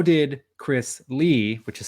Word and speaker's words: Li: this pronunciation right because I've heard lie and Lee um uh lee oh okay I I always called him Chris Lee I I knew